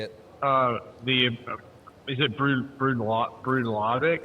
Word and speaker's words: Bruichladdich: I want to hear And you pronounce this Irish whiskey. Say it. is it Brudlovic? Broodlotic. Bruichladdich.